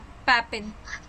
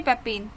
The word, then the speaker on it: papain: पैपिन, पैपिन, पैपिन। ठीक है, पैपिन, PAPAIN, sorry PA, हाँ सही तो बोल रही हूँ स्पेलिंग, PAPAIN, पैपिन।